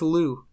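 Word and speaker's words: Lugh: rightful kingship and pate his name is Lou yeah as in like the food type thing yeah the paste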